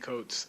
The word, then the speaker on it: Coates: It's Ta-Nehisi Coates. I have no offense for people mispronouncing my name.